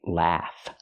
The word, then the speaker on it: laugh: Remember, pronunciation, laugh, laughing. Use the open a sound like black cat.